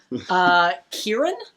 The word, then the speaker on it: Kieran: Kieran? Is that how that's pronounced? Yeah, Kieran Hines.